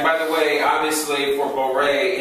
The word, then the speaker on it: Borei: And by the way, obviously for Borei, it's spelled that way phonetically with the I only to make you say Re versus just Re. Borei. Right? Borei. It's only there for phonetics. There's no letter U there.